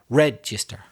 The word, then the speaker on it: register: You notice the stress is on the first syllable.